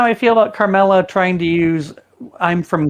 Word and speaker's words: Carmel: I love how the Midwest pronounces things. Okay. Carmel? Yeah. Oh, It because you guys doesn't say have Carmel. the second Yeah. A in it.